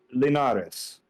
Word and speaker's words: Linares: Juan, how do you pronounce his last name? Linares.